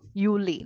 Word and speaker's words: Juli: May April okay and wherever you have J it is U Yi Yuli like that yanu Y sound along